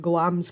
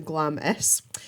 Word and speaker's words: Glamis: from where I live is a castle called glam's castle and it is pronounced at glams not to Glamis and there are loads and loads of ghost